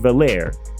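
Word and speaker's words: Veilleux: We of course have to start with the quarterback Christian Valair. His name is simpler to say than the way it's spelled.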